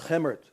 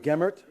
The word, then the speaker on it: Gemert: I'm pronouncing the name Gemert instead of Gemert because my assistant, Ria, happens to be Dutch and told me to do so.